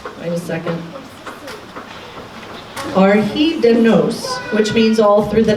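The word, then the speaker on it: Ar Hyd y Nos: actually looked up how to pronounce and it's pronounced by the second our heat dem nose which means all through the night it was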